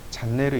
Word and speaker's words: 채널: 근데 건축 쪽에는 일본식 발음이 많이 들어가 있어요. 그러니까 일본식 발음으로 채널이라는 발음이 안 돼요. 그래서 그걸 뭐라고 부르냐면 잔네르라고 부릅니다. 잔넬 혹은 잔네르 이렇게 불러요.